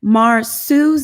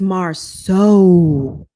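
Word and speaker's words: Marsau: Marsu's name is not pronounced Marsu. It's Marceau.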